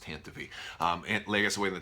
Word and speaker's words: Tantive: Leia gets away in the Tantive 4, and I hate that it's pronounced Tantive.